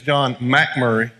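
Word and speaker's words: MacMurray: in the back and that's the proper way to say his name is John Mack Murry our brother beloved brother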